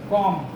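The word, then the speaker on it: comb: 3 number पे देखो form में होगा बी, कॉम, कॉम बोला जाता है, बी नहीं आ रहा है, बी इसमें साइलेंट होगा, इसकी बी फॉर बॉल है ना।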